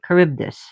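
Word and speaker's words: Charybdis: Caribdis. Trying to remember how to pronounce it in as best as I can in Greek.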